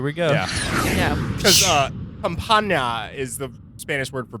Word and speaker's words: campana: Because campana is the Spanish word for bell. I'm sure I could get a more authentic pronunciation.